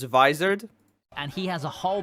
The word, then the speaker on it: Vizard: to him and G this guy's pronouncing it wrong so it's visard and he has a